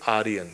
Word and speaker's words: Aryan: We will pronounce it as Aryan.